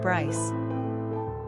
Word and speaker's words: Bryce: Number of syllables, 1. Ranking popularity, 117. Pronunciation, Brice.